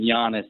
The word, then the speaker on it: Giannis: Uh, meanwhile, James is in Providence waiting patiently on Jaylen Brown for Giannis.